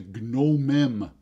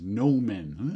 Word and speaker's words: gnomon: Pointy thing is called the gnomem, pronounced gnomon.